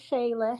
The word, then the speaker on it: Shayla: All right, we have, I think this is pronounced Shayla, but you'll correct me. Shayla? Is it Shayla? Yes, it's Shayla.